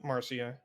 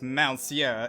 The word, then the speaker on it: Malcia: Excuse me, I believe you've mispronounced my name. It's Malcia, and yes, Oh, you Marcia!